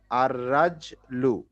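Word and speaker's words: الرِّجْلُ: এক দুই তিন কারণ র এর উপরে তাসদিদ আছে মানে র টা ডাবল উচ্চারণ হবে হ্যাঁ হ্যাঁ হ্যাঁ হ্যাঁ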